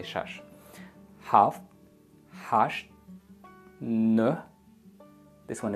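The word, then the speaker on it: шаш: One, yak, du, se, chor, panj, shash. But here, locals say shish. You better say shash.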